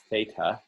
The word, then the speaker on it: theta: angle that's labeled as theta that is a greek symbol it's spelled uh t h e t a uh in english but it's pronounced theta and so theta is